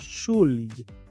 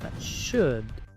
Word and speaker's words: should: Muchos pronuncian esta palabra shul, pero aquí la u es muda, también la l es muda. La o se pronuncia como una should.